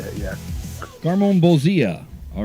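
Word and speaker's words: Garmonbozia: garmon Bia is how you say it yeah garmon Bia all right well yes this bowl is we're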